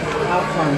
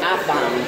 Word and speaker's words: Afam: Afram soup. Afram soup. Afram soup. How do you spell that? A-F-E-F. Okay, it's Afam.